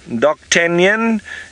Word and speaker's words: d'Artagnan: d'Artagnan of the Musketeers doc Canyon if you want to say it like that but the French word if I'm not saying it perfectly I'm sure but doc tan y'all and he's got this